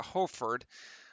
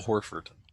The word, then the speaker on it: Horford: open three which doesn't go rebound down to hofford al hawfard harford or ford ford horford yes al horford i'm hungry okay i can't pronounce things correctly